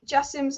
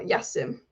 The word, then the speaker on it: Jassim: Sheikh Jassim's announced his name is pronounced Jassim, not Yassim.